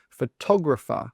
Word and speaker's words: photographer: But no, the stress should be on the tog. Photographer, photographer.